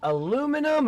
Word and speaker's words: aluminum: Is it aluminum or aluminium? It's pronounced both ways.